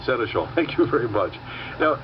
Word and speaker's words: Senechal: finished all right that's exactly what i said seneschal thank you very much now carol for those